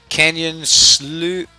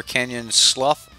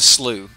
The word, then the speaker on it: Canyon Slough: card deeper was yeah Canyon Sloot Canyon or Canyon Slough know it's it's it's Canyon Slough it's it's a slew it's it's spelled right that's a slew is a low-lying swampy